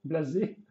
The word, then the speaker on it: Blazette: Blazette, Blazé, Blazette. Voilà. C'est comme ça, il y a un T à la fin, donc on va le prononcer pour l'occasion.